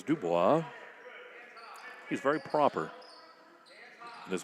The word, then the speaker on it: DuBois: Penn State Dubois third quarter, as Bob always says, Dubois. He's very proper in his pronunciations.